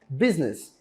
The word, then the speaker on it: business: Não se assuste com a grafia da palavra, com a maneira como se escreve a palavra, porque é totalmente diferente da maneira como se pronuncia mesmo. Business. Você pode perguntar, né? Cadê esse U? Não tem. Você fala dessa maneira. Business, business.